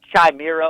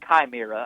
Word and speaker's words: chimera: That's called chimera or chimera. I've heard it pronounced both ways.